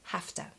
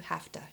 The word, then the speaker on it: have to: And also we pronounce it usually like hafta. So must, we say it must, but have to, we will almost always shorten to hafta in spoken English.